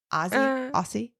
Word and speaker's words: Aussie: Aussie? I think it's more like with a Z, even though I know it's spelled with a Z.